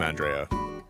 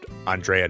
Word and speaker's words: Andrea: That's a very pretty name, Andrea. Wow. But you pronounce it like just like how how you pronounce Andrea normally, right?